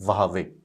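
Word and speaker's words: Huawei: 2019 में जब वावे, इसको आप हुआवे भी प्रोनाउंस कर दीजिए, कोई प्रॉब्लम नहीं है, परंतु इसकी जो सही प्रोनाउंसिएशन होती है वावे।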